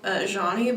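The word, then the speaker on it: Zheni: like that there's this artist called jeanni but it's spelled z h e n i okay and she kind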